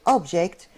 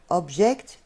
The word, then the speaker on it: object: in order to be when they use it as a verb has a different pronunciation when they use it